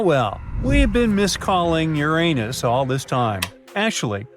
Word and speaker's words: Uranus: we've been miss calling Uranus all this time actually astronomers say we should be pronouncing it like Uranus not Uranus I can't say a different stress changes much though however things could